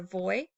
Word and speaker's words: voy: Or again, you can pronounce the V like a B if you want.